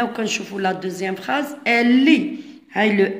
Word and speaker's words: lit: regardez bien li la lo lu le li les le li هنا تي كتجي في الاخر ما تنطقش. le lit السرير.